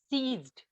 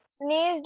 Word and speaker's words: seized: He defeated his brother and sneezed his property. Sneezed, again sneezed. It's not sneezed. Sneezed, Ma'am, can I try? Yes, seized. Yes.